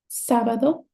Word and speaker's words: sábado: For example, ánimo, sábado, párroco. It's not sábado. It's not sábado. It's sábado.